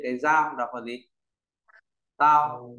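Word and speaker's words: 刀: Bộ đao nó về cái dao, đọc là gì? Tao.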